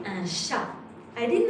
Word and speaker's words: chat: I said un chat. I did not say chat. I say un chat. So, it's a T. It's here when you write it, but you do not pronounce it.